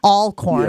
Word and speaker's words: Alcorn: Donald Driver for me will always be the example of Alcorn State or Alcorn, I think I've been told it's pronounced.